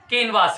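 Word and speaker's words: canvas: ये कैनवेस है और ये कैनवास है।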